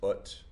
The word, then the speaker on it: ut: to say that as ut, but just like all the other U vowels in here, like the U in dominum and natum, it's an U.